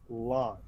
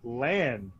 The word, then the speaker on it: Lan: They will never have that because Daniel Henney is Lon. 20 years ago, we were like Lan, but not anymore.